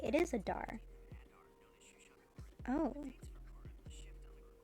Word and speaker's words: Adar: It is Adar.